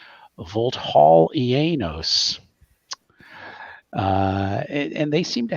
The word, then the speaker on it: Vulthaulienos: an area known as and we're going to say it once and then the players have their own pronunciation of it Vault Hall ianos uh and they seem